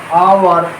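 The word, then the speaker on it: hour: যেমন দেখো অ্যান আওয়ার, অ্যান আওয়ার, আওয়ার উচ্চারণ আয়ের মতো আসছে, যদিও সেটা এইচ এই কনসোন্যান্ট দিয়ে শুরু।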